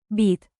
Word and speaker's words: být: Remember the long Y in. Být. Stretch it like dramatic theater while sipping coffee very, very seriously.